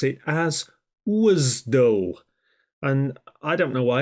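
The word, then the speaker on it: WSDL: I think it's more important before then to pronounce it properly if you were to say WS L on a project people will think you're a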